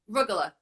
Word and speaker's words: rugula: How do you say arugula? Rugula. Like, I mean. Arugula. It's like a rug. Like rugula. So it's, here. Ah, I've been saying it wrong.